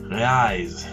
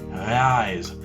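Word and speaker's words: reais: do you pronounce that rise so in my perception this sounds like an h sound rise but when i look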